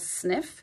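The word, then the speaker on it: Sniph: actually order from them they're called sniff it's spelled s-n-i-p-h um and they sell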